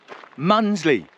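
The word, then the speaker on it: Mundesley: It's 30 degrees in Norfolk right now, and on the Norfolk coast, people staying in Mundersley, Vernon Kay, Munsley, yeah, Muppet.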